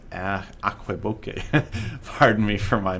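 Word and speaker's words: Aquebogue: It's not Albuquerque. It's Aqueboque.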